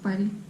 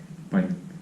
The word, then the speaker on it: palk: So that's palk. Palk. Palk. Soft, yeah. Then it's And when it's hard, palk. palk.